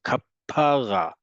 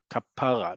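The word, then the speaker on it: כפרה: Modern Hebrew emphasis is almost always on the last syllable. Words that are not of modern Hebrew origin, like Moroccan Arabic, it's not going to be on the last syllable to make that difference.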